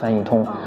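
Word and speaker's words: 翻译通: introduce our company's service Flitto, it's pronounced as Fān yì tōng in Chinese A quick solution for your translation needs, Fān yì tōng Flitto is a multilingual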